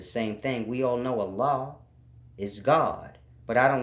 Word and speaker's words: Allah: And when it's spelled in that way, you can hear the difference. Allah. So when you hear certain people say it that way, Allah, Allah, with that extra emphasis on the end, that's that.